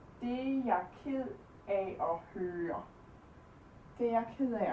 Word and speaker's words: Det er jeg ked af at høre: Det er jeg ked af at høre. Det er jeg ked af at høre.